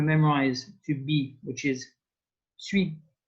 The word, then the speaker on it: suis: And here we want to memorize to be, which is suis. And suis and sit sounds a bit similar.